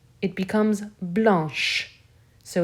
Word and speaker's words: blanche: for blanc it becomes blanche so it's irregular here i'm adding an h e the ch for blanche sounds like a sh whereas the c in the masculine form is completely silent blanc blanche finally we